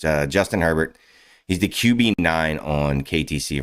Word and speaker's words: Herbert: on Justin Herbert Herbert a bear um if you are a uh New Orleans Louisiana person a bear that's how you pronounce it but it's uh Justin Herbert he's the qb9 on